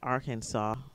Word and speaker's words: Arkansas: code now I never understand why this is pronounced Arkansas when if you take off the AR it's